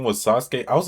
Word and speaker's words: Sasuke: So, I spent most of middle school calling Sasuke "Suh-skee".